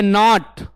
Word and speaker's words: gnat: इसमें जो साइलेंट क्या वर्ड है? जी साइलेंट है। क्या साइलेंट है? जी, है ना। इसको क्या पढ़ते हैं? नॉट।